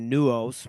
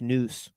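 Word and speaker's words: nous: Circles by the way I don't know why it's calling it nuos maybe that's like some Latin word but the word is n-o-u-s news which believes that there's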